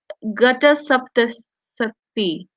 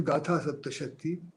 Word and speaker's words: Gatha Saptashati: And mentions I'm sorry, I'll not be able to pronounce this correctly. Gatas Gata Saptasati. Gata Saptasati. Right, I got it. So Hala's Gata Saptasati. The name is Gatha Saptashati.